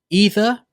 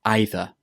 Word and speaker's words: either: ask me about is this word: either or either. Either with an E sound at the beginning or either with an I sound. Both pronunciations are correct in England and in the US because this word has 2 pronunciations.